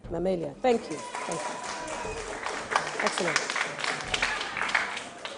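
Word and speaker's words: Mammalia: amphibia acot actino Gil so difficult way to pronounce or mamia D can you say the word for me mamia mamia thank you thank you excellent right welcome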